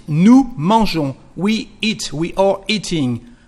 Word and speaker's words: nous mangeons: There is an S, but you don't pronounce it. Nous mangeons.